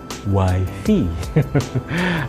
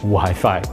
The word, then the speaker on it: wifi: Kalian seringkali pasti mendengar orang mengatakan wifi. Oke, so itu bukan pengucapan yang benar tentunya karena wifi mengacu kepada wife. Itu adalah panggilan sayang untuk wife seperti husband, hubby, ya. Oke, so stop using or saying wifi. Say wifi.